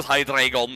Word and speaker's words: Hydreigon: again I can view hydreigon in this challenge after why I Britian pronouncing it like that because it's name is taken from the German word for one two and three eine zwei drei so yeah at the